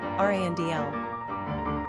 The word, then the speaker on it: Randall: Number of syllables, 2. Ranking popularity, 833. Pronunciation, Randl.